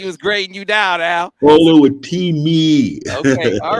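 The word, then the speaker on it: Oluwatimi: Olu Atimi was grading you down for pronouncing his name. He was grading you down, Al. Olu Atimi.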